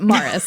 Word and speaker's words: Maurice: I know it but Morris this is the right way to say it it's spelled Maurice and we're wondering if it's just pronounced Morris yeah in his family